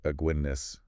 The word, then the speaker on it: Aguinis: aguinis is pronounced like aguinis like the beer okay got it like